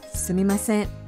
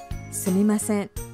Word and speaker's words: sumimasen: Pengucapannya seperti ini. Sumimasen. Sumimasen.